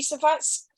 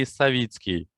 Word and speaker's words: Savitsky: Savetsky, excuse the pronunciation, Savetsky. Is Savetsky here? Yes, I'm here. Savitsky. Ah, lovely.